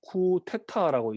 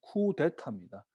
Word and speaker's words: 쿠데타: 근데 이제 우리나라는 뭐 쿠테타라고 이제 흔히 이게 음력을 하기도 하는데 정확한 발음은 쿠데타입니다. 그러니까 쿠는 뒤집는 거예요.